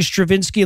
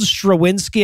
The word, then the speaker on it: Strawinsky: and by the way if I if I seem like I'm pronouncing Stravinsky like like I'm forc the pronunciation it's spelled strawinsky and I'm trying not to say that so apologies for that so Stravinsky and his